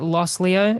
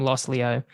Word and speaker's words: Los Leo: I think you pronounce it Los Leo. It's LOS space LEO.